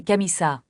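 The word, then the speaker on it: camisa: Ces chemises, la prononciation est camissa. Faites attention à prononcer le S comme un tâche d' pas comme en français.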